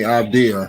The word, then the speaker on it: Avdija: Denny Avdia. That's how you say his name.